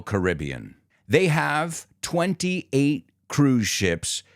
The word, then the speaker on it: Caribbean: are number one Royal Caribbean there are people who say Caribbean and Caribbean but in the case of the company it's always Royal Caribbean they have 28 cruise